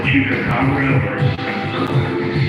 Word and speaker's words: chupacabra: you're talking about what is it called, the chupacabra, It is my mission in life to get people to pronounce that correctly.